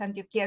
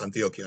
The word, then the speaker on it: Antioquía: Este sí, en realidad, como es una palabra griega, tiene acento en la I. Se le dice, se le decía Antioquía. Yo sé que en América, no sé si en Colombia creo es es Antioquia, ¿no?